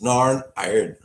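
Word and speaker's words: Norn Iron: do that nor nine uh says Reuben it's pronounced narn iron narn um yeah I don't like I don't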